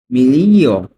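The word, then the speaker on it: miglia: না এই মাইল এই মাইলের ইতালিয়ান কি হবে মিলিয় মিলিয় এখানে কিন্তু উচ্চারণটা উজ্জ্ব থাকবে মিলিয়া ঠিক আছে জিয়ারের উচ্চারণটা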